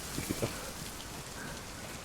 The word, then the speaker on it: poquito: Poquito.